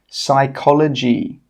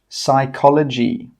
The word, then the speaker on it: psychology: Number 9, psychology, psychology. Number 10, conscious, conscious. Okay, you can see now that the letters in red are silent letters.